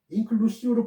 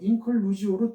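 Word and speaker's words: inclusio: 인클루시오는 라틴어예요. 인클루시오로 번역되지만 일반적으로 인클루지오로 통일해서 발음하고 있어요.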